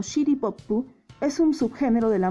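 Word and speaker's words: シティポップ: City Pop, o pronunciado en japonés como Shitty Poppu, es un subgénero de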